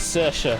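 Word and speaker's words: Saoirse: It is Cersa. Yes. Oh, thank God. Kind of. It's slightly different to that, but I'm not particularly that hot on Irish pronunciation to know exactly how it goes. That's a very good approximation.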